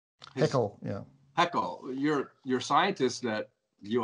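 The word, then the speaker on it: Haeckel: all right then let's go to is it pronounced hakel pickle yeah heckle your your scientists that you obviously admire and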